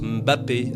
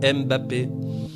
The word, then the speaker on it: Mbappé: parler de Kilian Mbappé alors je dis Mbappé parce qu'il paraît que ça se prononce Mbappé alors que tout le monde dit Mbappé et comme j'ai horreur